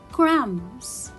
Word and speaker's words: crumbs: Crumbs, it will be a silent letter.